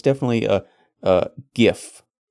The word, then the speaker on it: GIF: I just don't care you add a t to this word it becomes gift okay it's not gift